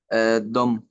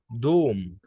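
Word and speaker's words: Dom: انطق لي الكلمه اللي بعديها. دم. لا، او، دوم.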